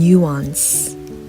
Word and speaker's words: nuance: 영어 발음은 nuance. 앞쪽에 강세가 붙고 뭔가 비슷한 듯 하면서 또 엄밀히는 다른, 찾아보면 그런 단어들이 꽤 있는 것 같아요.